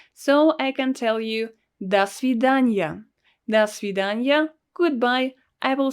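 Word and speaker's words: до свидания: person you will say dasidanya notice that we pronounce it all together and this letter o is pronounced as ah because it's not stressed das vidanya and this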